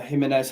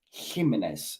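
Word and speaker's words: Jiménez: Jimenez hasn't been the same. I like how you spell it with a H as well, because that's how it's said. I like that, bro. Jimenez.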